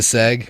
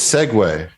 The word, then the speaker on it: segue: Seg is not a word. You know that, right? Segs It's not a is verb? word. It's segue is how you say it.